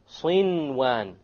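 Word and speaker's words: صنوان: There's a noon sakin followed by a waw. Sinwan, sinwan. You pronounce the noon. In this case, the ruling would be idhar. You make it clear. Okay? Without any ghunna, you make the noon clear and you move on.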